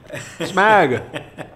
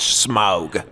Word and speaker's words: Smag: Smag? Smag. It's pronounced smog.